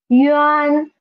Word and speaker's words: yuan: Next one is yuan, yuan. First pronounce y and then yen, and then you can get yuan, yuan, yuan.